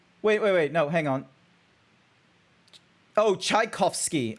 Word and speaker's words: Tchaikovsky: Oh, Tchaikovsky. I thought it was Chufnovsky. Chufnovsky. Tchaikovsky. Wait. Tchaikovsky. I will figure this out. Wait, someone anvil him. No, do not anvil me. You're saying it wrong.